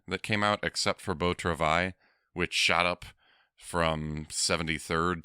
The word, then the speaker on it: Beau Travail: came out except for Beau Travail, which shot up from 73rd to be number 6 now. Oh! I didn't know that's how you pronounce it. I always go Beau Travel.